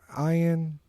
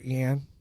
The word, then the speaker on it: Ian: I get, when I was little, I had friends who would just go, Yan, like, because they didn't know how to emphasize the E part, I guess.